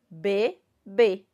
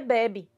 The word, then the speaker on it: bebê: segundo que aqui ó eu tenho duas sílabas praticamente iguais só o que faz delas diferente é justamente o que o a presença do acento circunflexo tá na segunda sílaba que o bebê tá se não tivesse assento nenhum aqui como é que ficaria ficaria bebe certo então por isso a importância de